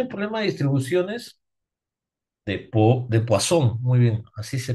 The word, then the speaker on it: Poisson: Recomendación, chicos, si viene un problema de distribuciones de Poisson, muy bien, así se pronuncia, ¿no?